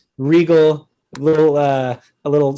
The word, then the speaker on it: Riegel: our live show and then we came up with regal a little uh a